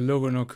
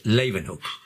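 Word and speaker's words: Leeuwenhoek: the power of the loganok microscope i hope i pronounced this name right no you didn't pronounce it right it's lavenhope living okay basically you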